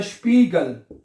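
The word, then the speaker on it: Spiegel: ये देखें, अगला लफ्ज है स्पीगल, क्या बनेगा? आई ई इकट्ठा आ गया, आई इकट्ठा आ गया तो क्या बनेगा? ई बनेगा, स्पी और गल, स्पीगल, ठीक है, स्पीगल, सही है।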